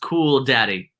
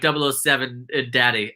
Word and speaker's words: K0001 Daddy: Okay, K0001 Daddy is FYI pronounced cool daddy. All right, that's my bad. I thought it was like 007 Daddy.